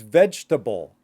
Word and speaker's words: vegetable: So last but not least, we have vegetable. But in the way that we say it, normally is vegetable. Vegetable. Or if you want to use the flap T, say it even faster.